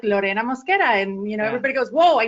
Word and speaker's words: Lorena Mosquera: So with that out of the way, today's guest is Lorena Mosquera from LW&H Business Solutions. Lorena, say hi. Let the audience hear your voice. Hello, everyone, and you got the name pronunciation pretty right on.